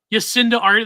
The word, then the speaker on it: Jacinda Ardern: Jacinda Ardern? Yacinda Ardern. That's how you say her name.